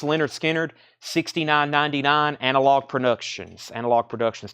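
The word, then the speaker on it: Lynyrd Skynyrd: have one kind of Leonard Skinner this is pronounced Leonard Skynyrd 69.99 analog Productions analog Productions 2lp there's wings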